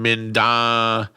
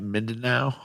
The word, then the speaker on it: Mindanao: He's in Mindanao. Am I saying that right? Mindanao, Philippines. Huh. Well, looks great on Google Images. Keldon, that's pretty fucking cool. That's cool shit, dude. Mindanao. Okay, Mindanao.